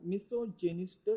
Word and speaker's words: misogynist: Form बन गई miss, और गाइन जब इंग्लिश में आया तो वो जैन यानी कि जेनिस्ट, इस तरीके से उसकी प्रोनाउंसिएशन होगा, इसे भी ख्याल रखें। तो मिसोजेनिस्ट इसका मतलब हुआ ऐसा शख्स जो औरतों से नफरत करे।